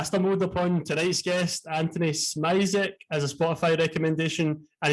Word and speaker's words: Szmierek: So it's the SZ is a sh, like Szmierek, like rhymes with Derek.